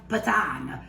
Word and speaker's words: patate: it correctly but we it always sounded like patan but actually it's p a t a t so what I'm going